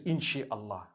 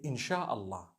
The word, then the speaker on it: InshaAllah: No one says InshaAllah. They say InshaAllah. That's what it is.